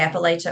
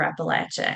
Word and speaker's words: Appalachia: Whether you say Appalachia or Appalachia. And there are people that get really upset in Central and Southern Appalachia because they say that's the only right way to say it is the short A. But then I've met people raised in Eastern Kentucky, West Virginia, and other places who were raised to say it with a long A.